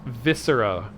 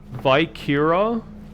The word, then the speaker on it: viscera: would be great yes it's pronounced viscera i'm so tired of seeing streamers and youtubers and stuff be like uh vikira vi vice era viscera it's a breton accent